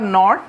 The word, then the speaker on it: knit: यहाँ पे के साइलेंट रहता है, इसीलिए हम इसको N से स्टार्ट करते हैं इसका प्रोनाउंसिएशन। तो KNIT नेट, और इसका